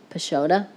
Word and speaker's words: Peixoto: Peixoto? I don't drink coffee, and it's Peixoto, I'm being told by Tom Blodgett.